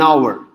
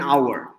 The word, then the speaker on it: hour: asked again why an hour because our look the letter h it is silent so because it's silent the first sound is ah and we because it's